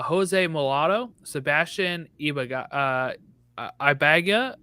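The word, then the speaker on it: Ibeagha: mulatto Sebastian Eva uh ibaga right how do I pronounce that I would say abiaga I have no yes you're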